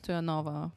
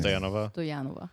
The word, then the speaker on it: Stoyanova: For the Americans, Stoyanova. For the Bulgarians, Stoyanova.